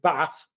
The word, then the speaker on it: Bath: calling my former constituency by its correct name bath with a northern pronunciation rather than what my